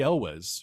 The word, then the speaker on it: Elwes: But Cary Elwes, or Ewells, I'm not sure how to pronounce his name. I think it's Elwes.